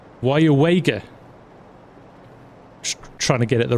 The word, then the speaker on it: Weyauwega: um can you hear can we hear you pronounce this town yes it's why wager trying to get it the right way around